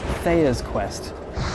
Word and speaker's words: Tea's Quest: Quest there's also the twist that it's pronounced Thea's Quest but it's too late